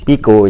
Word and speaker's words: Picot: ya Ya sudah jadi sikes dan picot piko ya b orang Prancis kan begitu bacanya ada perjanjian sikes dan